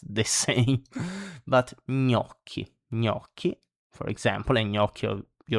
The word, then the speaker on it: gnocchi: Then we have gn, gn, like in gnocchi. So it's not gnocchi, it's gnocchi.